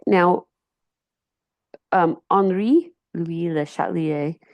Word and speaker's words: Le Chatelier: All right, now Henri Louis Le Chatlier, so it said Le Chatelier's principle because it's French. That's how they pronounce it when it's IER at the end.